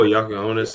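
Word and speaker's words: Jakučionis: Riley like right after was it Jassionis or how we pronounce it. Like I wanted him. If Oh, Yakuonis, yeah.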